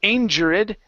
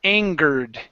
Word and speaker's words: angered: angered angered nope uh so this e right here you don't want to pronounce the E you're saying angered that's incorrect you don't want to say angered no it's anger angered angered uhhuh now now